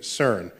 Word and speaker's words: CERN: the CERN collaboration so CERN is how you pronounce the word which I think in French that's the sequence of word but in English it's the European Center for Nuclear Research you swap some letters back and forth and you get CERN